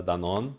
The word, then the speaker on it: Danon: U I'm my name is uh Danon or Danon as you pronounce here in England.